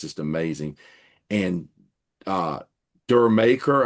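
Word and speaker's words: D'yer Mak'er: And uh Dur maker, I think it's how it's pronounced, is actually like Jamaica.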